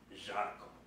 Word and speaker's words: Žarko: named Zora, but not Žarko, for the reason that the Z in Zoran is pronounced like a Z, and the Z in Žarko is pronounced like a Ž.